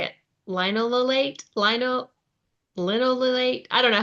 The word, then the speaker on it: linoleate: Linololate, linololate. I don't know how you say it. It's Linoleate.